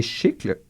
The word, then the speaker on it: chicle: latex qui est appelé chicle c'est écrit comme chicle mais ça se prononce chicl comme des chicles o le nomcinant les